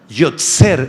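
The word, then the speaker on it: יוֹצֵר: la palabra alfarero apúntala yser en hebreo y gria o t s e r con acento en la e yser proviene de una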